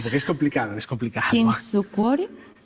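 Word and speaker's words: Kintsukuroi: Kinsukure. Mira, el japonés tiene una cosa que se pronuncia exactamente igual que el español. Entonces, Kinsukuroi. Kinsukuroi. Las letras, el fonema es igual que en el español, Kinsukuroi.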